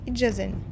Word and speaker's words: ijazen: Je, Ijazen, les joues. Attention, le D devant le J n'est presque jamais marqué à l'écrit.